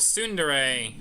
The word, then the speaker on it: Tsundere: There's a really popular character type called Tsundere. T is silent.